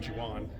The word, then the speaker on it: Civan: from Savan. The company is Savan. Yeah, they're out of Turkey. Okay. I actually pronounce it Jiwan.